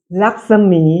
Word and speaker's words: รักษมี: นี่ เต็ม ๆ เลย อ่าน ว่า รักมี เดวี คือ ไพ่ พระ แม่ รักษมี เต็ม ๆ เลย แล้ว